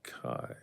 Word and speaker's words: Kai: Also, the pronunciation is like the word lie, but Kai.